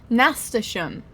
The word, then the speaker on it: Nasturtium: Nasturtium is how you pronounce it.